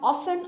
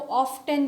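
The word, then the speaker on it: often: होता बल्कि सॉफ्टन होता है, इसमें भी टी साइलेंट है, टू मेक सॉफ्ट समथिंग। उसके बाद ऑफन। ऑफन को अच्छा कुछ ममालिक में जो है वो ऑफ्टन भी पढ़ा जाता है, इसकी प्रोनाउंसिएशन कहीं कहीं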